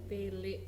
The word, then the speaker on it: Tilik: Pembahasan film tele Tele. gitu. Oh, Film bukan tilik ya? Tele. ya tulisannya sih tilik, tapi biasanya wong Jawa Rasanya kan wong Jawa bacanya kan tele.